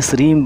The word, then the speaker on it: श्रीं: देखिए, मैं हमेशा कहता हूँ, मैं ना ही म लगाता हूँ ना ही ग लगाता हूँ। संस्कृत में जैसा उच्चारण इंग बिंदी बिंदी में म ग सब उठ जाता है, श्रीम श्रीम श्रीम ऐसा उच्चारण करता हूँ।